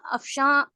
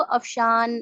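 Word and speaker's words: Afshan: है अफशां, दरख्शां, कहकशां, लेकिन कैसे लिखते हैं हम उसको? अफशान, दरख्शान, कहकशान। स्पेलिंग में ऐसे लिखते हैं ना इंग्लिश में, लेकिन हम वहां पर नून साइलेंट के साथ पढ़ते हैं।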